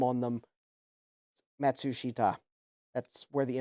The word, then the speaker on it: Matsushita: thank you sloppy Malibu matsushi ta thank you breaking it down uh by syllable yeah so Panasonic is